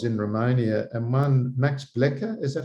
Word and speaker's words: Blecher: And I was recommended and given books when I was in Romania, and one, Max Blecher, is that how you say it? Blecher? Yes, Blecher.